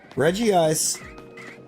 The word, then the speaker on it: Regice: Like how Regice is the only one in the line where the G is pronounced the way, or pronounced as if it's just the letter G. I feel like nobody really thinks about that, but Regice, the G is pronounced as a G. It's like not a G, not a J. It is literally a G. You just say the letter when you get to it.